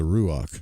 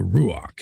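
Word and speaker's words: רוח: But um yeah, it depends on which dialect camp you're in.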